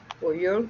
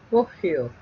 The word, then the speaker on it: Poggio: María Eugenia Pollo, y me dice cómo se pronuncia Pollo, porque es Poggio.